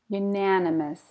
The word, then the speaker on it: unanimous: Unanimous. Stress on the na. Unanimous. Sounds like the word you. You, na, ni, must. But I don't say all those syllables. Unanimous. I say unanimous. Unanimous. Almost in 3.